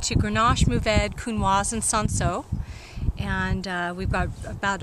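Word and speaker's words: Cinsault: kunoa and S how do you say it sanso sanso they're um rown varietals you mostly used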